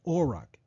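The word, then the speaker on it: אֹרַח: the Hebrew word for path used here is pronounced auric and as Strong's numbering as you can see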